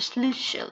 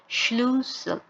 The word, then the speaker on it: Schlüssel: আর হচ্ছে স্লুশেল, স্লুশেল মানে হচ্ছে চাবি, স্লুসেল। উচ্চারণটা ঠিক ছিল না, আবার বলি Schlüssel।